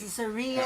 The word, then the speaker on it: Caesarea: Caesarea. Caesarea Maritima. That's how you pronounce it.